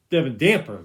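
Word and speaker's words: Devin Dampier: I say Devin Damper. Devin Damper. That's how you say his name.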